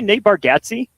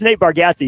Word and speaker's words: Nate Bargatze: Did you say Nate Bargatze? Is that his name? I think it's Nate Bargatze.